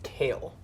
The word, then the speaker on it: Kayle: It's kale. It's pronounced kale, like the vegetable. Like the vegetable that no one eats.